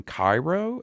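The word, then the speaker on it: Kyro: Let me ask you, since you brought skating up, are you familiar with a skater by the name of Aaron Cairo?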